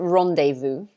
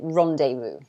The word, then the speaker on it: rendezvous: someone um but we we pronounce it rendezvous i think it's quite similar to how they pronounce it in french um i guess they say it with a more french accent but we say rendezvous rendezvous like that so yeah